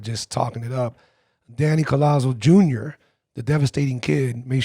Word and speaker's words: Collazo: It depends how you say it. My dad is Puerto Rican, but I guess, you know, like most of us come from Spain or whatever, or Italy maybe. You say it in English, they pronounce it Collazo. Sounding Italian. Man, I can't tell you how many Italians or New Yorkers go, oh, Collazo. And I'm like, hey, forget about it. But yeah, it's Collazo.